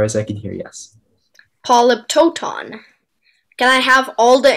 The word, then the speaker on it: polyptoton: correctly as far as i can hear yes polyptoton can i have all the information please polyptotan it's the only pronunciation is a noun that comes from late